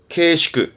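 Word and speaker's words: 慶祝: 경축, 케시크, 케시크. 요게 했던 거 의자라 축의, 축의에서 발음은 슈기, 슈기 합니다.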